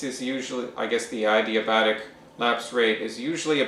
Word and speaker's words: adiabatic: is referred to as adiabatic lapse rate okay adiabatic and adiabatic adiabatic yeah okay you can pronounce it two ways but lately they're doing adiabatic okay what's that yeah